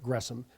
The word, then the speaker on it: Gresham: Gresham, or Gresham, as it looks like Gresham, but is pronounced Gresham, Machen.